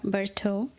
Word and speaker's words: Bertaut: Her name is Linda Berto and I really had to learn from her how to pronounce her name and that way uh I learned something new today, something in French.